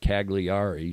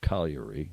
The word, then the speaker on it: Cagliari: It looks like Cagliari to Anglos, but it's pronounced Cagliari, or almost a correct pronunciation, Cagliari, which is there's 3